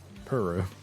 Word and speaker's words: Puru: puru 12 cuz all the video games said puru which I know technically that is the correct